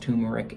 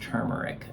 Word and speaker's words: turmeric: tumeric if you want to but it's not pronounced tumeric in the sky pad it's pronounced turmeric because that's how its build and so anyway